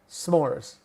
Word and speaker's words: s'mores: But instead of two syllables, some more, we just call them s'mores.